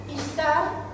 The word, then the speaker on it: Ishtar: Ishtar, que se escribe S-H, para nombrarlo como si fuera una H, Ishtar, es la diosa del amor y la fecundidad.